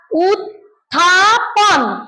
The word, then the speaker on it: উত্থাপন: অভ্যুত্থান বল অভুতান হ্যা আর এই শব্দটার উচ্চারণ হল উথাপন বলতো উথাপন আচ্ছা তাহলে